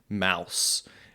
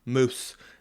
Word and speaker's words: mousse: And then they tell me it's pronounced chocolate mousse.